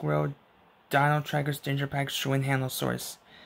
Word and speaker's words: Xuanhanosaurus: Dino trackers danger packs showing handle source it starts its name starts with X but you pronounce its name but you pronounce its name like shoe and hand of source which is weird so if you so